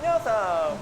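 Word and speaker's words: Yeosang: This is how they pronounce their names. Hi, my name is Songhwa. My name is Hongjoong. And Yoonho. I'm Yoosang.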